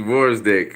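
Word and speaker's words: Gvozdyk: more dangerous names intolerant it's pronounced wars dick ok ok ok ok the G silent cool yeah but anyway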